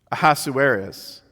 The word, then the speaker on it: Ahasuerus: One commentator that I read, I love this, says that the name has no meaning in Hebrew, Ahasuerus, but when pronounced aloud sounds something like King Headache in English, which is very apropos.